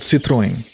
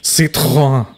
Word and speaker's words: Citroën: It's supposed to be pronounced, if I'm not mistaken, Citroën. Who the hell wants to drive a thing called a Citroën?